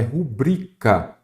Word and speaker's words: rubrica: se lembrar de que a pronúncia correta é rubrica sem acento CBA tônica é a penúltima não acentua as paroxítonas